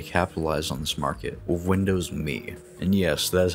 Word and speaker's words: Windows Me: and decided to capitalize on this Market with Windows me and yes that is how you pronounce it the main draw to me was